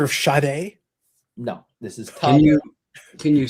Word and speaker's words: Tadej: No, this is Tadej. Can you spell that?